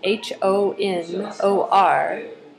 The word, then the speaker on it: honor: It's H-O-N-O-R, but you pronounce it honor, and then honorifics.